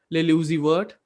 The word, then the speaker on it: Lil Uzi Vert: Lil Uzi Vert. When like when you speak his name in like full speed, like it's pronounced like Lucifer, right?